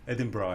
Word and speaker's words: Edinburgh: They spell it differently, but they say Edinburgh, yeah. They spell it differently, but they pronounce it differently.